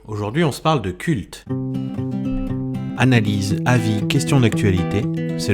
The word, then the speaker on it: CVLT: Aujourd'hui on se parle de culte. Analyse, avis, questions d'actualité, c'est le podcast du Labo des Jeux. Alors, Culte, qui s'écrit C-V-L-T, est un jeu de pli,